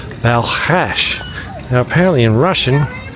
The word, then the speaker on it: Balkhash: Elena where we were going to, she said Balkhash. Now apparently in Russian, it's always been known as Balkhash, but the Kazakhs definitely spell it as Balkash.